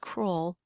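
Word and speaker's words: crural: shin and that is known as the cruel region but it's not spelled like the word cruel but it is Cru roll like that so maybe you can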